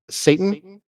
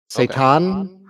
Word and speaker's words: seitan: that we really enjoy called um Satan seitan uh it's spelled like Satan um but that's made